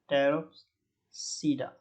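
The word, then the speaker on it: Pteropsida: इसके बाद हमारा आता है टेरोप्सीडा, इसमें पी साइलेंट कर देते हैं, टेरोप्सीडा, ठीक है।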